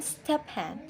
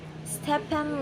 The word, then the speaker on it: Stephen: Note, in the name Stephen, PH is pronounced V. Listen and say these phrases and sentence. 1. We're living at 557. 2. A visa for a 7-day visit. 3. Stephen lives in a flat.